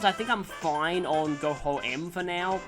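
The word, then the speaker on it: Goho-M: In terms of items, I think I'm fine on Go-Ho-M for now. I know some people pronounce it Go-Home, but yeah.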